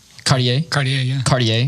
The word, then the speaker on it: Cartier: Cartier.